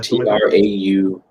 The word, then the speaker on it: Traue: Traue.